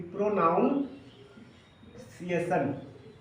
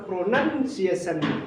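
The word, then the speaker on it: pronunciation: द प्रोनंसिएशन of noun प्रोनंसिएशन को बहुत कोई क्या बोल देता है कि प्रोनाउन सशन लेकिन यह कुछ वर्ड होता ही नहीं है ये गलत है प्रोनाउंस एशन नहीं होता है क्या होता है प्रोनंसिएशन क्या पढ़ना प्रोनंसिएशन प्रोनंसिएशन तो अकॉर्डिंग टू द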